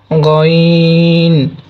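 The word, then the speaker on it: غ: অতঃপর গইন, গইন, এটা হালকা একটু মোটা হবে, গইন।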